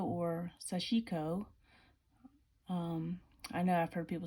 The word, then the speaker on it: Sashiko: Now, these were the Big Eye tulip needles, the Sashiko or Sashiko.